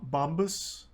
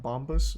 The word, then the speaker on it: Bombas: nice socks they're um Bob bombus bombas uh something like that my parents got